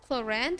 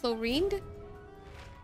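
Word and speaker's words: Clorinde: to the injuries well that's the way you pronounce the name Chand it's not chlorin these are the known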